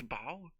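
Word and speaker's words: bough: bow how do you how do you pronounce that bow ah of course that's bow obviously that's Bow Man shy language man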